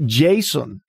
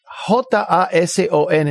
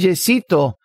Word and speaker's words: Jason: nombre que aparece en mi título certificado de nacimiento es Jason J a s o n no es Jason no es yesito pero yo respondo a yesito yo respondo a a a a diferentes pronunciaciones de mi nombre el nombre a mí